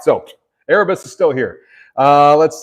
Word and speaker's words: Erebus: doing dude his name is actually uh it's pronounced Erebus so it's e-r-e-b-u-s which um means Lord of